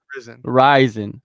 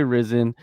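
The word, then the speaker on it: Rizin: the the promotion okay like the first show risin risin is the proper way to pronounce it a lot of people say risen and you know let me give an example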